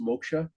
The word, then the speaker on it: moksha: It it small correction, it's normally pronounced moksha.